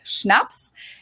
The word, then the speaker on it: Schnaps: In German, we spell it like this and say Schnaps, and it means hard liquor.